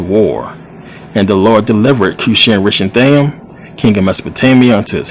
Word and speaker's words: Cushan-Rishathaim: hands of, and this is a long one, Cushan-Rishathaim. This is how you pronounce it, believe it or not. Cushan-Rishathaim, who was the king of Mesopotamia.